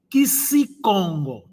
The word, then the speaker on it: Kikongo: Mas, na verdade, esse termo é Quixicongo. Tá vendo? Quixicongo. Não é Quixicongo. Porque se fosse pronunciado Quixicongo, saía muito mal.